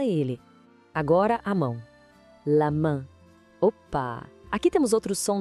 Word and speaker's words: main: Mas não se esqueça que o S no final é mudo, tá? A gente não fala ele. Agora a mão. La main.